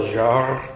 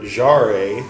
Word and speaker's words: Jarre: This is Jean-Michel Jarre, or Jarre, as I called it until my Swedish friend corrected my pronunciation.